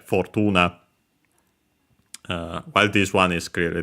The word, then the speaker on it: Fortuna: in the online dictionary, but it's actually Fortuna. It's based on Roman goddess, so yeah, based on the pronunciation in Latin, so yeah, Fortuna.